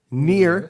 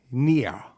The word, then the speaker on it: NieR: general ever uh the game is near uh pronounced near spelled n i e r i i i actually Googled how to pronounce it and they say near it's it's almost like a French German bastardization